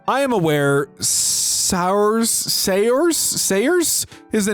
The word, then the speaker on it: Saoirse: Sours? Awful mispronunciation. I am aware sours Sayers Sayers is a name. It's my name. It's Irish and pronounced Saoirse.